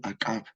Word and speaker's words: Akab: We pronounce in ancient Maya Chol Akab.